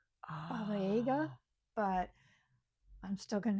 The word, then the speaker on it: Baba Yaga: with the Bob, and I know I'm saying it wrong because apparently it's actually Aga, Baba Yaga, Oh. but I'm still going to say Baba Yaga because I feel like